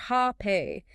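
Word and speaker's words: rapé: But mapacho in the form of this snuff, which by the way is called rape, pronounced hape, it's administered cutely and infrequently.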